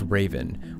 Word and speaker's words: RVN: They called the redeployment Operation RVN, pronounced Raven, which stands for Reducing Violence in Our Neighborhoods.